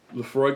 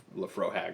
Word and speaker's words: Laphroaig: dad mentioned it and he pronounced it terribly he called it the lofro hag or something like that and I was at